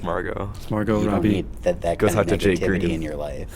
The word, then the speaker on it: Margot Robbie: unlimited money hack um did you really just say Margo Margo Robbie oh everyone pronounces it Margot around me I don't know why I've always PR to Margo But like everyone has told me like oh marget Robbie no don't do that wrong it's Margo Margo Robbie